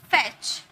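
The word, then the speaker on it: fetch: फैच, T silent है, विच, T silent है, सब में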